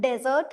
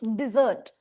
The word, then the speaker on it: dessert: The first E in this is pronounced slightly as I. It's not desert, it's dessert.